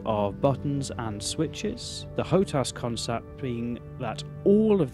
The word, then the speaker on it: HOTAS: I've heard this pronounced different ways. I'm opting for HOTAS as it's least likely to get me in trouble with human resources.